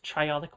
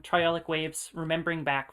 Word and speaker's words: triolic: and you hear one of them known as triolic waves that's spelled t-r-i-o-l-i-c triolic and that so you're hearing